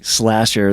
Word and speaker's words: SLASR: an acronym, which is SLASR, which is SLASR. So SLASR for Sounds Like a Search and Rescue, right? That's how it's spelled, yeah, but it sounds like slasher.